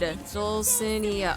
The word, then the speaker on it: Dulcinea: Dulcinea.